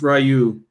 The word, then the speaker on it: Ryu: anything that you type the metal says it's pronounced Ryu nice is everyone including me pronounces it wrong oh all right again